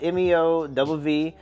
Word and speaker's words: MEOVV: looked up how to say their name cuz it's spelled Meo WV but it's pronounced meow that's that's according according